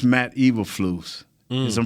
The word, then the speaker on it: Eberflus: More importantly, it's Matt Eberflus. Is I'm pronouncing his name right?